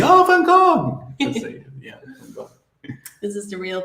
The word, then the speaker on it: Van Gogh: Van Gogh. This is the real pronunciation.